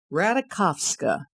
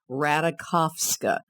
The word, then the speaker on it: Ratajkowski: Emily Ratajkowski. That's the way she likes her last name to be pronounced. Ratajkowski.